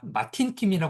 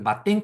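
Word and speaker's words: Matin Kim: 알고 계실 거라고 생각해요 이거 마 마틴 킴이 읽으면 안 됩니다 이거 마틴 킴이 읽으면 아저씨예요 저는 이제 처음에 전 마틴 킴이 읽었는데 이거는 마틴이라는 마땡이라고 읽어요 그래서 마땡 킴이 부르는 이제 브랜드인데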